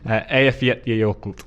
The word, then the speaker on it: Eyjafjallajökull: It's something along the lines of, and I'm going to apologise for any Icelandics listening, Eyjafjallajökull.